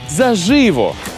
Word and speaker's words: заживо: наживо наголос на и а от у слові заживо тільки на перший склад заживо на на перший